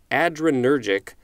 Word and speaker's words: adrenergic: words but it's spelled ADR e n e r g IC so it looks like it's ADR plus energetic but i believe it's